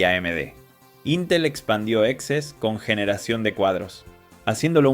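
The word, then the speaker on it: XeSS: Excess de Intel, pronunciado Excess, usa IA mediante las unidades X-Matrix de Intel para rescalar desde resoluciones bajas.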